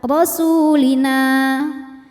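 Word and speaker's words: رسولنا: Ala rasulina, jika berhenti di na, hukumnya mad tabi'i karena ada alif didahului harokat fathah, maka dibacanya panjang 2 harokat, rasulina. Namun jika wasol dibaca pendek, madnya gugur, namanya takhallus bil hadfi.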